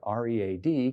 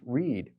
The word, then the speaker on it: read: For instance, the English word R-E-A-D could be pronounced read or read, depending on whether it's the present or the past tense.